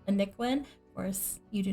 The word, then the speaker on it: ANicWin: My origin ID is ANicWin, ANicWin, and that is how you pronounce it, ANicWin.